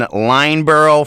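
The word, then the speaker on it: Lyndeborough: Wilton, Lineborough, for some reason the D is silent, 56-25 over Concord Christian.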